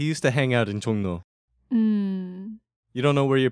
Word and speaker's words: 종로: Actually, first, let's go over the pronunciation. It's 종로, 종로.